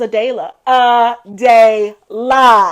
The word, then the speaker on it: Adayla: U ad or something and they said your name wrong he was like and my name is AD DEA AA and I said I'm listening I'm I did